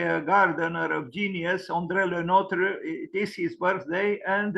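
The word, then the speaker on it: André Le Nôtre: so umbrella Notre uh I'm not reading the pronunciation that's this is the pronunciation Andrea Notre uh born on the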